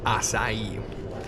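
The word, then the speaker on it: açaí: the way while I'm on the topic of assai I can confirm it's pronounced assai and not any other way that most Americans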